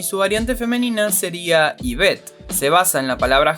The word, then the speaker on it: Yvette: Curiosamente, Yvette significa la arquera. La pronunciación de su nombre recuerda a nombres tales como Eva o Eve en inglés, para ser más específicos.